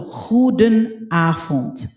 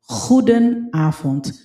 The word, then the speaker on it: goedenavond: V is pronounced as F dito. So, goedenavond. Goedenavond.